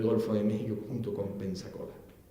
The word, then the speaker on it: Pensacola: Es una de las llaves del Golfo de México junto con Pensacola. Y Pensacola, lo digo mal, Panzacola, yo soy canario y no pronuncio las zetas, Panzacola depende de Movila.